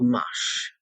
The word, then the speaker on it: mâche: One of my favorite salads is called mâche, also known as lamb's lettuce here in the United States.